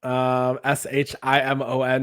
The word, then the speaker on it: Szymon: Yes, I believe it is Szymon. Shimon is like the phonetic spelling, but maybe he pronounces it differently.